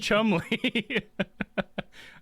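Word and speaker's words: Cholmondeley: Because on what planet is that pronounced Chumley? I'm sure there's probably some phonetic, rules that I could make that pronounced Chumley, but it's just like, what's the D for and stuff?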